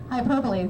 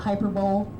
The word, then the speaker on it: hyperbole: Hyperbole, usually they pronounce it, my kids pronounce it a hyperbole, okay? It's hyperbole. It's an exaggeration of fact, okay?